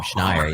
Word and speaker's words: Schneier: Nobody knows how to pronounce it. You actually got it right almost on the first time. Schneier. Yeah, like Schneier.